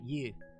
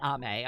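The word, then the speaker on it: 雨: I use the Chinese pronunciation for that. You. It's not Ame, okay? It's not Rain Ame. It's Rain You.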